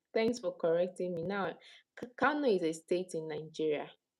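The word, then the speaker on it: Kano: Cano Cano Cano. Okay, thank you. Thanks for correcting me now. Cano is a state in Nigeria.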